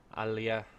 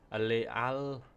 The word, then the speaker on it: Alalia: So as you can see, the Etruscans have Alea. Oh my god. My pronunciation's gone completely to pot. Alalia. That's right, Alalia.